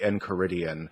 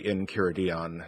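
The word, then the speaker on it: Enchiridion: and of his works especially the encoridian or the incuradion depending on on who you hear pronounce it if you were to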